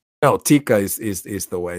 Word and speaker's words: Tikka: I hope I'm not saying it wrong no Tikka is is is the way it's supposed to